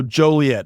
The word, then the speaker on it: Joliet: tough spot for me uh all right so Joliet I sear that in my memory but um